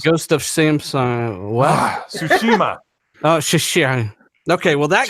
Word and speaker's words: Tsushima: It's Ghost of Tsushima. It's not Ghost. It's Ghost of Samsung. What? Tsushima.